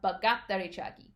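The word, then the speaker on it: 바깥다리 차기: So bagatari chagi has a syllable in it that starts with what we call like a tensed or stressed letter in the Korean language. So bagat, right? That G sound isn't just a regular G.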